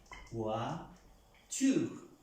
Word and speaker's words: voiture: Cuando encontramos una palabra con la O y la I, la vamos a pronunciar UA.